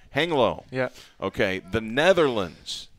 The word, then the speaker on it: Hengelo: How do you pronounce it? Hengelo. Hengelo.